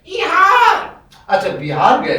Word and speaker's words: बिहार: मैं इहार गया था। कहाँ गए थे? इहार। ये इहार कौन सी जगह है? इहार। अच्छा, बिहार गए थे।